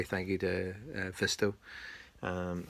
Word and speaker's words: Vsysto: you to fisto um i don't even know if i'm saying it correctly but it's vsy sto it's a driving recorder they call it so i'll call it vista it's good enough for me so thanks for watching